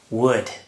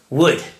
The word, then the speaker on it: would: In this lesson, as you can see, we're going to look at would. So stay tuned. I've decided to talk about the modal verb would, pronounced like the material, would.